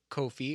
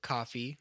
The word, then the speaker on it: Ko-fi: we have is that we have a Ko-Fi, or Kofi, or Coffee, depending on how you want to pronounce it, but I am going to pronounce it Ko-Fi.